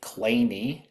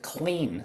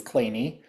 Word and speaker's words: Kleene: mathematician Stephen Cole Kleene, and it is actually pronounced that way, Kleene. Um for many years, I looked at this and I called it the clean star, but it really is Kleene and if you know what a Kleene star